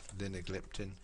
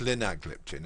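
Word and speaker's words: linagliptin: p t i n Lin liptin uh it's Lin gliptin okay so we get the um we get the results corrected yeah Lin gliptin wonder why that's cap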